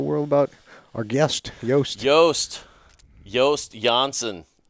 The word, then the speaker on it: Joost Janssen: I don't know if that's how you pronounce your name or not. But Actually, that's the correct way to pronounce it. But there you go. If they get my first name right, Yoast, then they go with Jansen's okay. Too.